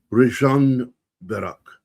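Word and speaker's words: Ružomberok: Rajan Barak is the name of it. I just checked the, how to pronounce it.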